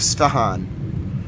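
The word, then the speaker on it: Isfahan: I S F A H A N IF ifstahan.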